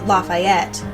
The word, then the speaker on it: Lafayette: la la fayette which is pronounced her like it's spelled Lafayette but in Tennessee we call it Lafayette we'll